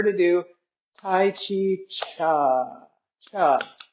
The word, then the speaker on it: Chih: And we're here to do Tai Chi Cha Cha. That little word is pronounced cha like chuck wagons.